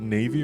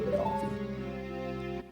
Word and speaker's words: Navi: Do you pronounce it Navy or Navi? I've always said Navi.